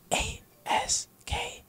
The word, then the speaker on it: ASK: no lie but I I say ask because that's this is my stage name so ask ask like an 8K so you just gotta